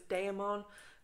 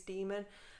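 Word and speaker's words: daemon: IRA so it was dae'mar but I think the correct pronunciation is demon and but I always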